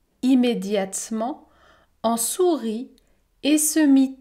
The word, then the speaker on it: immédiatement: » piqué piqué au vif, l'ogre se changea immédiatement, je ne prononce pas la voyelle E, immédiatement, en sourit et se mit à courir sur le plancher.